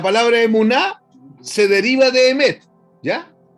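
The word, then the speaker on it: אמת: En el hebreo, la palabra verdad se se pronuncia emet.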